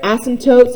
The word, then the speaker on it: asymptote: The way I remember it, asymptote sounds like the word ass.